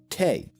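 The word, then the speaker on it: 茶: variation of cha like chai in hindi zai in russia or chai in turkish both versions come from this chinese character in mandarin and cantonese it's pronounced cha so if a language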